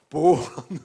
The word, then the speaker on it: born: 발음이 안 좋아. born. 알 발음이 나야 돼.